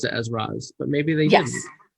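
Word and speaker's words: Ra's: And so his name is Arabic, and so Raz is the correct pronunciation.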